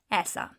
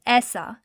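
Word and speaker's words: ایسا: So let's look at the word aisa.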